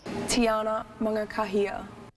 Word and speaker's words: Mangakahia: As for her name, well, it could be one you are still trying to learn how to pronounce. Tiana Mangakahia.